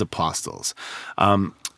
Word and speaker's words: apostles: I've never heard anyone really pronounce the T in that word.